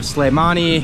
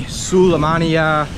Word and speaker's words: Sulaymaniyah: Kurdistan behind arabil now it's also written and pronounced in like five different ways so you have slamani suleimania slay money and it's all written differently but it's all the same city awesome let's try this